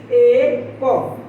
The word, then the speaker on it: এক: যেমন এখানে লিখা রয়েছে এ ক, তো বানানের মতো যদি আমরা উচ্চারণ করতাম তাহলে এটার উচ্চারণ হতো এক, কিন্তু এক হলো ভুল উচ্চারণ। প্রমিত উচ্চারণ হবে এক।